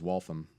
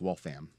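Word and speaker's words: Waltham: yeah there's also uh wal tha M which people think is wall from it's wall fam just gave it away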